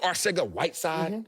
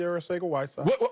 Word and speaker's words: Arcega-Whiteside: Since you're a Philadelphia Eagle lover, do you know a guy by the name of Arcega-Whiteside? J.J. Arcega-Whiteside.